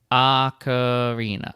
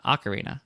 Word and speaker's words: ocarina: pipe crystal yep totally acarina ocarina okay so cool i got it ocarina ocarina excellence that's thank goodness because oh and then vlad says uh both pronunciations are good fantastic that's good news